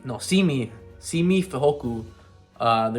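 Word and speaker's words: Simi: always get his name wrong how do you pronounce it semi no see me see me hoku uh the receiver that we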